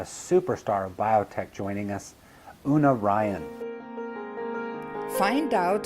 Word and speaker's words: Una: Lots of people say Una, but I actually pronounce it Una as if it had a Y in front of it. Una, like unique.